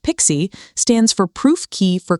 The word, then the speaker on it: PKCE: PKCE, pronounced Pixie, stands for proof key for code exchange.